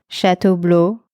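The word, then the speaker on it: Château Bleu: gratuito y wi-fi gratuito esas tres palabras compuestas en francés se pronuncian shat Blue y así es el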